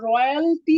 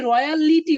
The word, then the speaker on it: royalty: খেয়াল করেন, এখানে আমার চ্যাপ্টারের নাম হচ্ছে রয়্যালটি অ্যাকাউন্ট। উচ্চারণটা ঠিকঠাক করতে হবে কিন্তু, রয়্যালটি। আমরা অনেকে রয়্যালিটি বলি, এখানে কিন্তু লিটি না, রয়্যালটি।